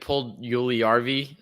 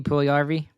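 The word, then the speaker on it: Puljujärvi: I think Paul Juliarvi, is that how you say his name? Jesse Puljujarvi.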